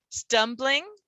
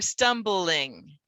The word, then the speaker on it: stumbling: here in the dictionary there will be two pronunciations given stumbling or stumbling and it depends on where you are what people will say